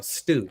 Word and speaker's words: Stu: Stu. It is Stu. It sounds like the soup and shit. Stu. It sounds like that.